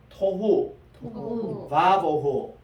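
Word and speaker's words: תֹהוּ וָבֹהוּ: 그리고 따라합시다. 토후 바보후. 자, 토후입니다. 토후. 그리고 와는 and라는 말이고 보후입니다. 보후.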